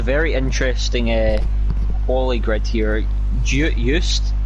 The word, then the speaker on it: Joost: Joost is how you pronounce it, yeah? Joost.